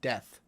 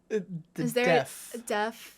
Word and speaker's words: deaf: really high death population it sounds like you're saying death deaf deaf i've never really thought